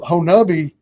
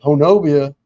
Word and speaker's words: Honobia: And the people of Honabi told me not to tell anybody the pron correct pronunciation. So when people come in there to the Bigfoot store down there and say Honobia, they'll know who the tourist is and who the real people are.